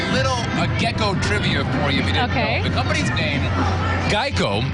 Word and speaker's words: Geico: gecko trivia for you Geico was often mispronounced gecko and that's how the popular lizard was created also those first Geico